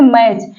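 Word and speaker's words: match: इन तीनों का कॉमिनेशन होगा वहां पर टी साइलेंट होगा देखिए जैसे मैच यहां मैच में देखिए एम ए टी सी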